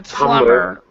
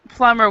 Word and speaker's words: plumber: in in English um the B is silent and it's a very common mistake so we actually pronounce um a plumber plumber with uh like like